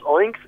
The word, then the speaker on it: Oincs: la tienda de aplicaciones, buscas Oinks, que se escribe O-I-N-C-S, sí, y te la descargas